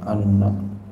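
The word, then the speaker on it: أَنَّ: Wa anna, dan bahwasanya anna bil fathi dengan fathah bacanya anna ala takdiril lam, atas takdir lam.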